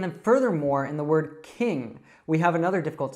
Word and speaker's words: King: You might end up just saying like keen, but it's not keen. That means actually that we really enjoy something or we want to do something, like I'm keen to go to the movies this weekend, but we want to say king. So do you kind of hear that nasal sound, almost as if I were sick?